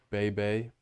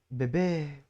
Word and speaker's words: bébé: Well, I like how you got to say baby either way in a French accent because I got that from Emily in Paris. Bay Bay. Bébé. That's how they say it.